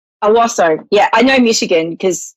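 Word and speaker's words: Owosso: Now, Mary, how do you pronounce where you're from? Owasso. Owasso. Owasso.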